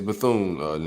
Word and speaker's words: Bethune: It's Bethune, Nick.